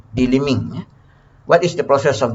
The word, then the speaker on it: delimbing: So English pronunciation silence the B, delimbing.